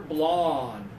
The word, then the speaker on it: blonde: personality she's bland okay this one single finger blonde blonde is just the color of her hair